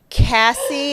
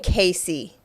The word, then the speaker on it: Cassie: It was like Cassie, and I was saying Casey the whole time.